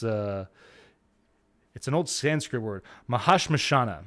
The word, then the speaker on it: Mahashmashana: It is I gotta pull the title up here to make sure that that I'm pronouncing it right, because it's an old Sanskrit word. Mahashmashana.